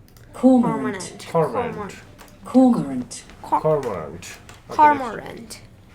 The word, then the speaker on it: cormorant: How does it pronounce? Cormorant.